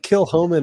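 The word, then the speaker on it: Kilchoman: Yeah, the uh the box that I got from the uh Comri Com uh that that actually had a pronunciation guide in there at the beginning. It said kill dash ho dash men.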